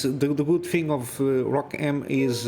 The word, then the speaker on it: ROCm: they are teasing the they call it Rock m M yeah Rock M it's how it's pronounced it's not welcome or